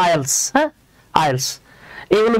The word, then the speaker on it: IELTS: Similarly দেখেন, আমরা কি এটাকে IELTS বলবো নাকি IELTS বলবো? বলেন তো কি হবে? জি, এইটা কিন্তু IELTS না, কজ এটা হলো বাবা অ্যাক্রোনিম। তো অ্যাক্রোনিমটাকে কি পড়তে হয়? এটাকে পড়তে হয় আইএলস।